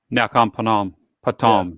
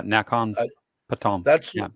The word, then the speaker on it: Nakhon Pathom: Nakhon Pathom. Yeah, Nakhon Pathom.